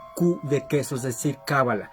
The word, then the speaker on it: cábala: de queso es decir cábala la pronunciación sigue siendo lo mismo es una palabra homófona pero al escribirlo si